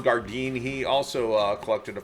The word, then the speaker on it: Gardin: sax or interceptions uh Ron gardeen I've been pronouncing his name wrong and uh thank you to the viewer who corrected me on his the pronunciation of his name uh Ron gardin he also uh collected